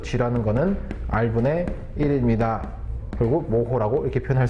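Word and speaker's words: mho: 자, 얘는 뭐라고 읽을 거냐면 얘는 모호라고 읽어주시면 돼요.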